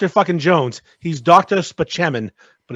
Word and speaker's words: Spaceman: be Dr Jones he's Dr speman but it's spelled Spaceman right Chris Parell is funny but